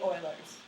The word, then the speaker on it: Euler: It's Euler's formula. I always mispronounce it. It looks like you want to pronounce it Euler's. It's actually Euler's.